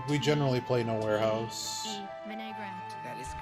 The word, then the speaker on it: vinaigrette: Vinaigrette is the only pronunciation.